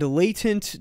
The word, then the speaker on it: latent: sense imogen already does text really well and latent diffusion by the way a lot of you have been yelling at me because i call latin diffusion latin diffusion where it's actually pronounced latent so latent